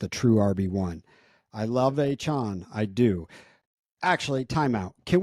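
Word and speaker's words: Etienne: his name isn't pronounced ETN yesterday? Watch. What did he say it was pronounced? He says it's just like achan.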